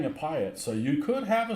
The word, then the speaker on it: PIAT: Normally I pronounce it Piat. Okay. That's what we'll go with. Piat.